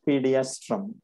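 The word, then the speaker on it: Pediastrum: Which one is this, pronounce करना हम। Very पीडियास्ट्रम। Good, correct, it इज पीडियास्ट्रम।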